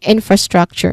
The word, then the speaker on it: infrastructure: That's um that is how you say this word infrastructure. The stress is on in and also struck infrastructure. Infrastructure. Okay, this word has two level stress. So the first syllable has a stronger emphasis in.